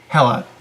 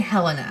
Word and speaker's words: Hela: It's not pronounced like Hela or it's Hela. Like hella cool.